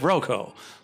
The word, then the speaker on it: Roko: then we pronounce it Roko.